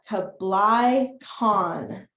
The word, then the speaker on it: Kublai Khan: they finally reached the court of Emperor kabala Kublai Khan three years of travel wow so let's put